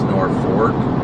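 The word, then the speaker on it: Norfolk: me how it's spelled nor folk but it's Norfork I didn't know yeah it's pronounced norfor but it's spelled norog why is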